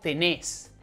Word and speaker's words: tenés: Also, when using vos, in most of the cases, the verb is in a different form, which accentuates the last syllable. So, instead of tú tienes, it's vos tenés, as in vos tenés hambre, tú vienes, vos venís.